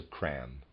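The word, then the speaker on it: Cramb: by the English Professor cram readers aside spelled c r a m b and of readers aside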